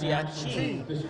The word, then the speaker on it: Siacci: And sitting next to his mother, she corrected us and says Chris Siacci. And now every time when we say chi, they scream at us that we're saying it wrong, and it's come straight from his mother.